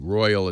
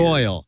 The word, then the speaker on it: Royole: Royole. Royal is spelled weird. Royal.